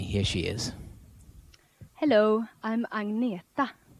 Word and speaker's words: Agneta: Hello, I'm Agneta. I know it's very hard for you to pronounce, but you can say Agneta or you can say Anna.